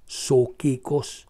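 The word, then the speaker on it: psuchikos: term now excuse me p s u c h i k o s soos silent P okay caral SOS s a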